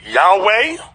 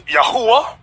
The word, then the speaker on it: Yahweh: former people you have some people announcing yahweh another group pronounces yahuwah we were taught yahweh